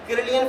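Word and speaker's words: Kirlian: technique है photography की जिसे कहा जाता है कलियन फोटोग्राफी उस टेक्निक के जरिए रोशनी के स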